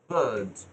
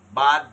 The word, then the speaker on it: bird: তাহলে উচ্চারণ হতো বাদ, কিন্তু এটা থাকার কারণে উচ্চারণ হচ্ছে bird, বার্ড, বার্ড, বাদ না বার্ড।